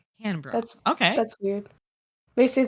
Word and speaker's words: Canberra: Candy Barra?